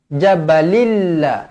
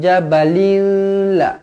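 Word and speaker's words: جَبَلٍ لَّ: idgham bilaaghunnah okey bilaghunah idgham memasukkan la ghunnah tanpa dengung jadi bacanya Bacanya jabalillah jabalilla jangan baca Jabal Tak nak jabalilla l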